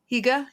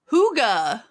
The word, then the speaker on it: hygge: I'm probably not pronouncing it with enough phlegm, but Higge. Hi Hygge. Hygge. You were very close.